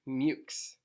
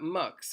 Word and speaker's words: MUXE: is called MOOCs okay I asked specifically to know how to pronounce this and it's mutes okay not MUX or Moxie or anything like that mutes okay so leave that